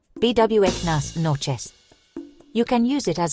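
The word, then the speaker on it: buenas noches: Pronunciation BWnas noes.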